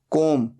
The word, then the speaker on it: comb: बाल बनाना, कोम, COMB। यहां पर B साइलेंट होता है, सिर्फ बोला जाता है कोम।